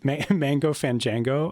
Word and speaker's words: Mango Fan Django: You play fiddle for Grass It Up and Mango Fan Django? Is that how you pronounce that? Dave, you're a pronunciation wizard. Yes, Mango Fan Django.